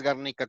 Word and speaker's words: Garnica: Sí, es Garnica con el acento en la segunda sílaba.